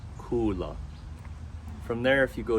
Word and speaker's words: Kula: top of the mountain is Kula and it's pronounced Kula from there if you go down the mountain